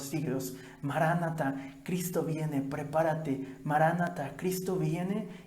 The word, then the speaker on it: maranatha: dice para nada pero la palabra se debe pronunciar maranatha el señor vienen pronto